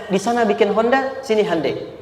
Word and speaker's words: Hyundai: Sehingga ketika di sana bikin Honda, sini Hyundai. Hyundai kan dibacanya Hyundai.